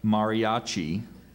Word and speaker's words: mariachi: guitarists and of violinist are there any alternate pronunciations I just have mariachi Mariachi m a r i a c h